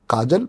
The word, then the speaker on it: काजोल: बुला रही थी तो मैंने काजल ही कहा था लेकिन फिर हमने जब स्पेलिंग उनकी देखी तो उसमें काजोल लिखा हुआ था काजोल एस बजाज